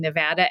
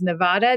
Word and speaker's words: Nevada: had so much documentation of Nevada being Nevada and so much has been written or uh joked about its mispronunciation as Nevada that I think it's